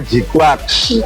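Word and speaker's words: GQuuuuuuX: Ya, nama yang unik ya. Saya sendiri kurang paham kenapa dinamai demikian. Tapi yang pasti bacanya G-Quax. Kalau ada salah, tolong dikoreksi di kolom komentar, nggak apa-apa.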